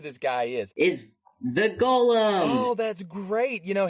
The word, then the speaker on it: Golem: his past now that's gollumin so guys don't pronounce it like Gollum it's Golem yeah so what's the